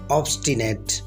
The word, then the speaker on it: obstinate: ऑब्स्टिनेट, आपने इस लफ्ज़ को ऑब्स्टिनेट नहीं कहना है, ऑब्स्टिनेट, बल्कि ऑब्स्टिनेट। ऑब्स्टिनेट।